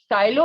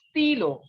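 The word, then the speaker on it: stylo: so pencil is crayo silo is the pronunciation in english in french it is stilo and this can be correlated with the word stylus okay so it pencil is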